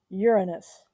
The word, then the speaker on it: Uranus: it's the seventh planet uranus and we do say it like that because otherwise there are so many jokes um we know most